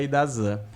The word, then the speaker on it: IDASAN: mas por conta e por que que eu falo s por causa do do sancionador, né? Eh, e é por isso que essa pronúncia ficou muito na minha cabeça e eu esqueci do português que seria a Idazan.